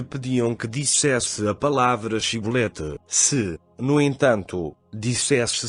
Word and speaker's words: Shibolete: Se dizia que não, então lhe pediam que dissesse a palavra Shibolete. Se, no entanto, dissesse Sibolete, porque não conseguia pronunciar corretamente a palavra, eles o prendiam e o matavam na passagem do Jordão.